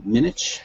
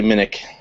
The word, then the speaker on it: Minnich: say your last name minich minutes it's actually minik minik okay and uh